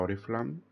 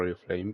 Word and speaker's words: Oriflamme: Tendré que pasar a pronunciarlo Oriflamme. Es que suena raro. A mí me suena mejor Oriflame, pero es que, a ver, digo Oriflame porque pensaba que así lo decían en inglés.